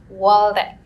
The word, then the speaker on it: Waldeck: privileged to have Dr waldreck am I pronouncing Israel Walter yes waldek he's a professor in chemistry from uh the